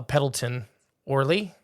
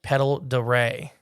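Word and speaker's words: Pend Oreille: here in late uh pedon Orly pronounced Lake pedal D they call him paddler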